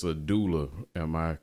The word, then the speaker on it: doula: As a what, let me make sure I pronounce the term correctly. It's a doula.